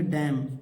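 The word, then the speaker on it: damn: प्रकार इस क्या पढ़ेंगे डैम देखिए डी ए एम एन को नहीं पढ़ना डैम डैम माने क्या होता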